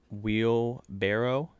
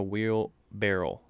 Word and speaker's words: wheelbarrow: uh i learned something that day and it's pronounced wheel barrow it's not a wheel barrel did you know that no yeah i learned